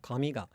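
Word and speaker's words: 紙: But then the word for hair and paper, I believe, are both pronounced low, high, low, with the particle attaching low.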